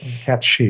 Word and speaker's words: Cat Sìth: So the Cat Sìth, it's Cat She is probably pronouncing it correctly rather than the way it's spelled.